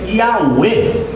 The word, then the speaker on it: Yahweh: Estão falando de Yahweh, que é Y-H-W-H, pronúncia Yahweh.